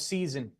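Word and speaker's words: seisin: The covenant of season, and that's how you pronounce it, like the 4 seasons.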